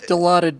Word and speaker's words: Dilaudid: Yeah, It's Dilaudid, by the way. And the reason I'm making that pronunciation correct is because I was in the